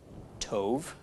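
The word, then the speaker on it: טוב: So altogether, this is pronounced tov.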